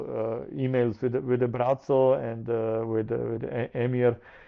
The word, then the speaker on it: Braco: Yeah, it's in our language is pronounced like Bratzo and like a pizza.